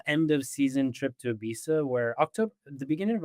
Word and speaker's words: Ibiza: Why are we talking about Aisa? actually pronounced Ibitha if you're British.